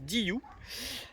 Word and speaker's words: DYU: DIU à DIU oui parce que ça se prononce DIU avec ce superbe cadre